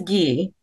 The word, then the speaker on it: Gee: University's president Gordon gee is it ghee by the way or G it's ghee ghee okay so I've been mispronouncing it apologies to or the